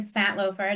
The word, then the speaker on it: Santlofer: This morning, I'm really excited that we have Jonathan Santlofer.